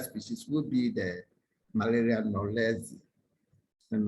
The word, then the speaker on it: knowlesi: Knowlesi is spelled Knowlesi.